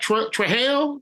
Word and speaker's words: Trujillo: Yeah, is that Trujillo?